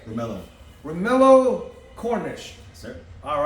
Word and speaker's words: Romello: Romello.